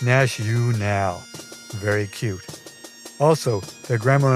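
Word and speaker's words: NatUnal: So it's pronounced Nash-U-Nal.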